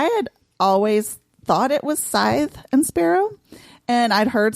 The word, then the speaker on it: Scythe: And then I look it up and it's well, you can actually pronounce it both ways. Right. Yeah. And unfortunately this time you can't. It is Scythe.